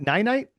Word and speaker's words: Ninite: night, nine night. Yeah, Ninite. That's nine. it. Nine Nine. And that's spelled Ninite.